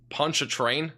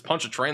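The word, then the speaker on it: Pontchartrain: the two2 Super Chat punch a train that's what it is it's punch a train that's it I mean I keep getting different pronunciations punch a train that's what this lake is called any chance you can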